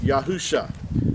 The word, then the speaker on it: Yahusha: yeah with that said it's five letters you'd yad hey uh shane would give you the pronunciation of yahusha now where do we